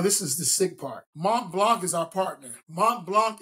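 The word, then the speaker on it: Montblanc: and that oh this is the sick part Mont Blanc is our partner Mont Blanc is custom making I gotta call I gotta say it right they're not ink pens writing instruments mon Blanc is designing and custom making flank blow slank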